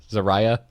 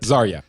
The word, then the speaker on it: Zarya: how do you spell I always pronounce Zarah how is it zarya zarya it maybe don't